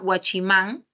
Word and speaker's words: guachimán: es que tienes acá guachimán mayor fuerza de voz en la última sílaba sí ves pero la